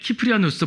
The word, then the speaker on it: 키프리아누스: 그 다음에 키프리아누스, 보통 시프리안이라고 말하는 사람, 시프리안이라는 말을 아마 많이 들었을 거예요. 영어를 번역해서 나온 책들이 많다 보니까 이제 시프리안이라는 표현하지만 저는 가능하면 그 원래 발음으로 쓰려고 합니다.